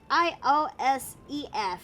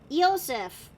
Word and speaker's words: Iosif: it's pronounced as either it's pronounced as Iosef, you know, aka the German/Russian variant of Joseph. So, Iosif? Yosef. Okay. I thought it would have been spelled with like a Y. Nah, I mean, there is a variant like that though, but I like the one with a I-O instead of Y-O. That's fair.